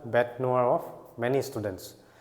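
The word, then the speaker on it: bête noire: of the court next bet noa ইয়াৰ pronunciationটো নয়েৰ নহয় ইয়াৰ pronunciationটো হল ইয়াৰ noa bet noa ইয়াৰ লিটাৰেল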